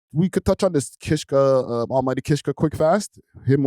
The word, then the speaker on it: Kishka: Broski, you gotta say my name right, fam. It's Kishka.